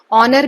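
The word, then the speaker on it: honour: सो silent letter, Wraith में कौन सा है, डब्ल्यू, इसे डब्ल्यू को हम प्रोनाउंस नहीं करते हैं। देन नॉलेज में के, ऑनर में एच, काम में एल, फिर निमोनिया में ये पी जो है वो साइलेंट होता है, ओके।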